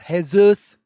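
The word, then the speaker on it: Jesús: A man named Jesus from Guatemala explains that for the last few weeks, I think it's pronounced Hezus.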